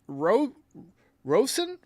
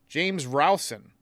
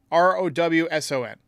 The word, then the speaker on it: Rowson: But first, Yankees have hired a hitting coach, James Rosen? Hang on, I think I pronounced his name wrong. Yankees hire hitting coach. Hang on just a second. James Rowson, Rowson.